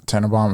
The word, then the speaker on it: Tannenbaum: Tannenbaum, am I pronouncing that right? Yeah.